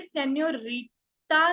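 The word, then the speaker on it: señorita: लेकिन ये वाला जो एन है, ये न्या होगा, न्या। आधा न और या, न्या। क्योंकि इसके ऊपर एक छोटा सा एक्सेंट है एस की शेप में, न्या, न्या। इसलिए हम इसको हमेशा बोलेंगे सेन्योरिटा, नहीं सेन्योरिटा, सेन्यो।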